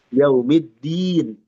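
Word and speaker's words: يوم الدين: iki yaumiddin dal jangan jadi ta yaumiddi di di jangan jadi tin nanti buah tin artinya yaumiddin dal dan ta ini satu makhraj dia rawan tertukar nam tes maiki yaumiddin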